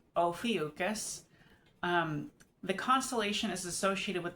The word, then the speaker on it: Ophiuchus: It is pronounced Ophiuchus.